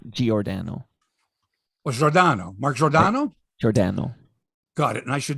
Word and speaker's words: Giordano: with you by the way you're saying his name wrong it's giordano it's not giordano what's rodano marc jordano got it and i should know this because